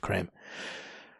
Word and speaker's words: Kreme: And it's the original glazed I buy when I go there, if I do go to Krispy Kreme, or cream, but I think it's pronounced creme.